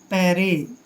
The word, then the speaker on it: parity: दोस्तों पी का उच्चारण हम पै करेंगे, ए को ए की मात्रा पढ़ते हैं, आर को रे पढ़ना है और आई को ई की मात्रा पढ़ते हैं।